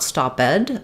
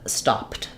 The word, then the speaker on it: stopped: like stop or talk then the letters Ed D are going to say the T sound so uh not stoped but stopped stopped and you may be